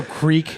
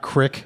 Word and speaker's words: creek: It's also creek, not crick.